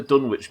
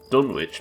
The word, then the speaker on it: Dunwich: yeah she's a wpc dunwich more like done with yeah you're right would it actually be pronounced dunnich i guess it would in the uk right too much mouse